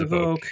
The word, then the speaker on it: Evoque: Is it Evoque or Evoque? I always remind you. It's Evoque. Evoque, thank you. Now, that's actually an impressive